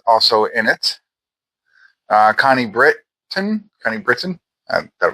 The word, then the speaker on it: Britton: Kyle Allen is also in it uh Connie Britton Connie Britain I thought it was Connie Brit for some reason but it's Britain let's see oan is silent uh let's see anybody else I recognize